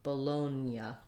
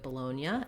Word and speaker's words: Bologna: way we do um the g does influence the n we don't say it with a g g sound but we do have a ya sound after the n so it's kind of like they switch places um and we again have our oh diphthong so trying it from loan you can try lonya like i'm gonna loan you some money and then add the ba but people don't often